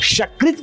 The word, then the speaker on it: शकृत: शकृत कहेंगे तो शकृत माने ये मल, गंदगी, और सकृत कहेंगे तो एक।